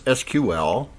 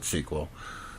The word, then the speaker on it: SQL: is a self-contained SQL engine uh we can pronounce this SQL that's the preferred way or some people pronounce it SQL uh but at any rate it's a self-contained